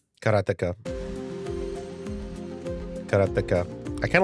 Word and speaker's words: Karateka: A lot of people say karate or keratika. In Japanese, uh there's no stress on any syllable. So it would be karata, something like that.